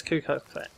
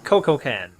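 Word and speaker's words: Kukulkan: to the new god it's al kwang oh wait no it's required no uh quizzical no it's kuka no it's uh coco can that's how you say it listen to its voice pack set up an ambush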